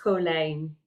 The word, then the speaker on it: Colijn: Yeah, and it's pronounced Colijn. In Dutch, the IJ makes an A sound.